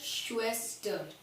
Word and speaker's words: Schwester: श्वेस्टर, क्या कहते हैं श्वेस्टर। यहाँ पर जो जब भी जर्मन में कोई भी वर्ड में S, C और H आते तो वो श प्रोनाउंस होता है, श। तो श्वेस्टर।